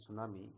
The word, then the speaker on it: tsunami: title देख रहे हैं सुनामी जो मिट्टी स्टार्ट हो रहा लेकिन यहां पर साइलेंट हैं कि सुनामी का मतलब